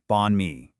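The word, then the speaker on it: bánh mì: Bonmei, it's pronounced bonme.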